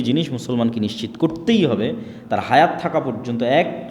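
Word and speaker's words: תורה: Torah বলে ইহুদিরা উচ্চারণ করে যে তোরাহ যখন তাওরাত দেওয়া হলো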